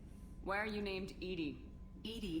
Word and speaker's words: EDI: are you named Ed Ed is the phonetic pronunciation of Eed that is an Acron